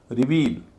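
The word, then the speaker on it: reveal: रिपीट रिवील यह भी वैसा ही शब्द है। पहला हल्का है। दूसरा भारी है।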